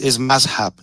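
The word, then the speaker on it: مذهب: Well, it's mazhab, not the one that you pronounce.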